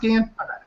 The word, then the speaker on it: Gillian: Is it pronounced Gillian? Yeah.